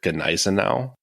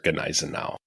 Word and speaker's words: Gneisenau: for the German battlecruiser Gneisenau. That is how you say that, right? You thought I didn't know that one. I feel like also most English speakers usually just drop the G because like that's what we would do.